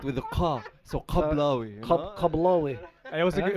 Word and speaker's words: Kablawi: if you wanna Pronounce Kablawi. it right with a ka. So Kablawi.